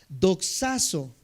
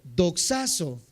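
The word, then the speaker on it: δοξάζω: La palabra glorificar en el original griego, apúntalo si puedes, es la palabra Doxazo, se los voy a deletrear. D de dedo, O, X, A, Z, O y acento en esa O. Doxazo, glorificar.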